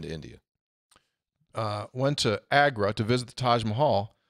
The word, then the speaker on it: Agra: for business staying in Delhi but travel to agar to visit the Taj Mahal excuse me Agro